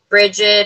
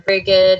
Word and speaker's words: Brigid: So the Imbolc, with Imbolc, usually it's honored with the goddess Bridget or Brigid, or however you want to. There's different ways to pronounce her name.